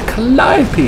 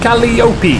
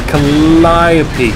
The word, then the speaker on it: Calliope: But it doesn't kill anyone because it's a Calliope. A Calliope. Which is not how you pronounce it, by the way. It's Calliope. Calliope is like Tony Hawk's skateboarder. You know, alley-oop.